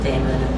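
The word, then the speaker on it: daemon: all these references to Damon or Demon, however people pronounce it.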